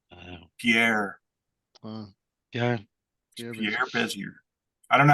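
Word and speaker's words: Bézier: Those are called Bezier curves.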